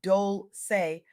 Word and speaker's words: Dolce: I'm Dolce, pronounced Dolce, like sweet softness whispered in French.